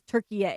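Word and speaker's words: Türkiye: We are all expected to pronounce it moving forward as Turkey A.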